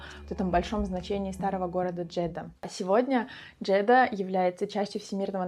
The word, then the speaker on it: Джедда: Вообще, название Джедда, пишется Джеддах, является одним из форм произношения арабского слова Джедда, которое переводится как бабушка.